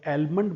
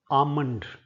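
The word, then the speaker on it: almond: पहले दो शब्द सबसे पहला शब्द जो आमतौर पर लोग एलमंड बोलते हैं। यह शब्द क्या होता है? यह शब्द होता है आमंड।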